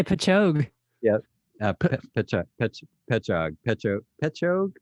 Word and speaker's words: Patchogue: we got pete from patchy gooey wow peppa gooey i don't know how the hell did you pronounce that uh notice his last sentences can't wait to hear how joe pronounces this one it's uh patchogue new york pecha gooey did you actually look that up al yeah i did because i didn't know i was going to say pachog yep picture petcha pecho